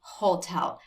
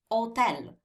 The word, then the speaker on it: hotel: we do not say hotel because the h is silent in italian we say hotel like there's no age